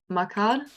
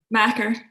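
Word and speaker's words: makar: And yeah, let's not forget the Scots word for poet is, and I have no idea how to pronounce this, Macar? Macker.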